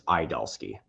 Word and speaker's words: Idalski: That is from what I understand, that's the correct pronunciation is Idalski.